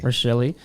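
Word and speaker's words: Rachele: Rashelle, five goals. Rashelli. Rashelle, how do you say? Rashelli.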